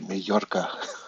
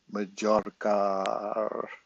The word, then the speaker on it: Majorca: I'm going to come visit you in Majorca. Majorca. Majorca. Because your J, isn't it? Your J pronounced like an H or something like that?